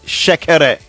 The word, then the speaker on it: shekere: But I would want Trey to pronounce it the way we call it here. It's shekere.